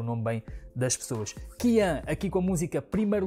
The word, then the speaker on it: Kyan: Eu hoje dizia sempre Kian, né? Mas já não me lembro quem foi, mas um de vocês disse nos comentários que a pronúncia é Kian.